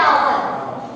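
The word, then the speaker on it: hour: यहां भी आपका एच जो है वो साइलेंट है। ठीक है? एच क्या है? साइलेंट है। इसको बटा आवर।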